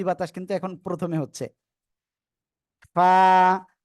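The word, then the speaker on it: ف: উপরে দুই দাঁতের আগা নিচের ঠোঁটের পেটের সাথে লাগাতে হবে এই যে লাগিয়ে হালকা বাতাস বের করে উচ্চারণ করতে হবে ফা ফা সবাই বাতাস বের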